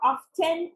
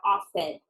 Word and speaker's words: often: often how often remember we don't pronounce the T we don't say how often is how often eight number five my